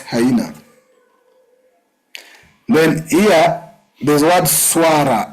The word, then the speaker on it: swara: Then here, there's word swara. It's not swala, it's swara. Wow. It's not L-A. It's a swara with an R, which is an impala.